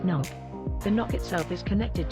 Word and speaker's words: NOC: The orbiting satellite transmits and receives its information to a location on Earth called the Network Operations Center, or NOC, pronounced NOC.